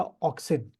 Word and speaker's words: auxin: तो देखो कौन कौन से हैं, सम ग्रोथ प्रमोटर हार्मोन्स आर, भूलना नहीं इसको, सबसे पहले लिखिएगा ऑक्सिन, AUXIN, ठीक है। सेकंड आपका लिखिए, पहले स्पेलिंग लिखता हूँ, GIBBERELLIN, गिबरेलिन बोलते हैं उसको हम लोग।